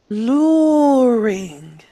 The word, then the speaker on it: luring: Uh, So when we pronounce the word, we actually pronounce the R twice. Luring. luring. You'll have to get used to that. Sometimes we pronounce the letter R two times.